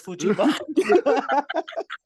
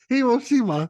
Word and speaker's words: Hiroshima: I'm gonna go with Hiroshima. Oh, dang. Ding, ding, ding. I was Kenny? close, man. Which one? There's no such thing as Fujima. It's Hiroshima.